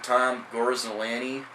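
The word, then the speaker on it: Tom Gorzelanny: you all right Detroit signs Lefty relief pitcher Tom gorsolani it's how it's pronounced uh to a one-year deal now the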